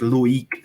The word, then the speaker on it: Loik: Just to correct you, it's Loik. Oh, Loik.